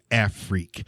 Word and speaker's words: Afrique: I heard you say in that whole word, freak. Afrique, not freak. I heard freak. Afrique. And the reason I said it that way freak is out. it's spelled AFRIQUE.